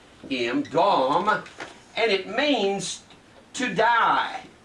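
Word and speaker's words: dam: We said that blood in the Old Testament is the word D-A-M, and it's pronounced D-A-W-M, Dom, and it means to die, to die.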